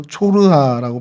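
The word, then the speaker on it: צרעה: 성경에 등장하는 소라는 히브리 말로 초르하라고 발음을 하고 있어요.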